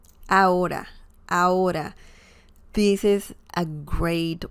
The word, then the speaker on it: ahora: Ahora, ahora. This is a great word / expression to learn in Spanish because people say it all the time. Ahora, ahora. Remember, the H sound is silent in Spanish, and this means now or in a minute.